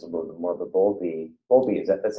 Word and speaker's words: Bowlby: But Bowlby that's how you say his name, right?